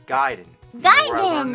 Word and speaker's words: Gaiden: Everyone always said Ninja Gaiden, but I know for a fact it's Gaiden.